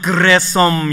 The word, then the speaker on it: 게르솜: 근데 게르솜 할 때 이 이름의 원래 히브리 발음은 그레솜 이런 뜻이거든요.